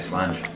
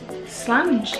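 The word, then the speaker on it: Slàinte: say slange of that, otherwise, you say slange. Slange? As in, like, it's similar to the Irish slancher. Yes. Slange, as slange. In flange. Slange as in flange, that's about all that rhymes with.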